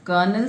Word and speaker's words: Colonel: Okay, this is the story of Colonel Sanders. Underline this and look at the pronunciation, children.